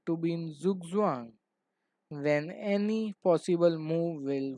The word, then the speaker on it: Zugzwang: Here, as you can see, that it is fun to say with the pronunciation being Zugzwang. Chess is being an international game and has adopted languages from other countries. Zugzwang is a German word which translates to compulsion to move, just as I said.